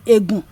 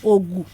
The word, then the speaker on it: Egun: It is called Shogunro Agogu, which the people call Egun. But the real pronunciation is Ogu, the Ogu language of the Badagris.